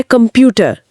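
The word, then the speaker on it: Computer: एक मिनट अक्षर का नाम से लेकिन शब्द में तो क की आवाज आ रही है। यह क्या मामला है? और यह रहा हमारा पहला ट्विस्ट। अक्षर का नाम है से से। अंग्रेजी के सी जैसा नहीं। हालांकि इंटरनेशनल शब्दों में जो दूसरी भाषाओं से आए हैं, इसकी ध्वनि क ही रहती है।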